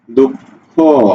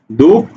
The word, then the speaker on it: দুঃখ: আহ আহ ঠিক আছে যখন এই বিসর্গটা শব্দের মধ্যে থাকে মধ্যে দুঃখ অর্থাৎ মধ্যে থাকলে পরবর্তী যে ব্যঞ্জনটা আছে তা বৃত্ত করে অর্থাৎ তাকে দুইবার উচ্চারণ করা হয় দুঃখ ফরেক দুঃখ অর্থাৎ উচ্চারণটা এইরকম সুতরাং বলা যাচ্ছে যে